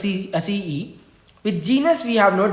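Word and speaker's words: aceae: With family we have Acee, so it's pronounced as Acee.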